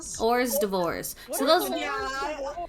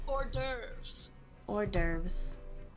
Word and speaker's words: hors d'oeuvres: members shonda rhimes projects and adam sandler characters ore's divorce those are appetizers those are appetizers like the